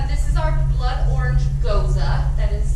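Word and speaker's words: gose: So this is our blood orange goza. That is how it is pronounced.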